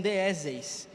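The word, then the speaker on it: δέησις: Ele vem do grego e é um termo que se pronuncia como deis, que pode ser traduzido como petição.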